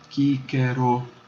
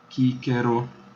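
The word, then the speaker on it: Cicero: Se você tem a palavra Cícero em português, em latim se escreve exatamente igual, mas é lida diferentemente, porque o C equivale a um K, então vai ser Quíquero, Quíquero. Cada letra, eu disse, é pronunciada.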